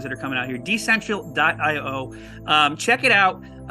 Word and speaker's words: Decential: It's DECENTIAL, so it rhymes with essential. It's kind of like decentralized and essential put together.